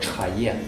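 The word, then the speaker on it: 茶叶: Полное слово чхае. Чхае. Е это лист, то есть чайный лист.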